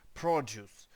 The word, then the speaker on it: produce: предмети які я виробляю prodce prodce це читається тобто з наголосом на перший склад а тому ще те